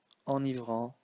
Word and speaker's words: enivrant: You know, the word enivrant has just one n. So the n changes the pronunciation of the e, but it keeps its n pronunciation at the same time.